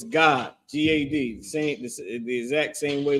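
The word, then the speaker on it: גד: It's just pronounced God, like God and Da connected. Instead of it being Gadah, it's just God, right?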